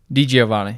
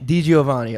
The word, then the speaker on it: DiGiovanni: wait how do you say your last name d giovanni d giovanni okay very nice and uh we've been singing